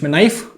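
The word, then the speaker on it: knife: नाइफ की spelling K-N-I-F-E है, इसलिए इसे 'knaife' नहीं पढ़ा जाता, आप इसे क्या पढ़ते हैं? चाकू। क्योंकि 'k' क्या है? चुपचाप।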